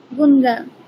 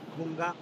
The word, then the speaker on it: গঙ্গা: উস্তাদ আমার মাঝখানে কেটে গিয়েছিল, আচ্ছা, আমি আচ্ছা, আপনাকে এটা যদি বলেন, সময় কম, এটা কি উচ্চারণ কি হবে? নদীটার নাম কি? গুনগা। গঙ্গা, গঙ্গা, গঙ্গা, ও গঙ্গা।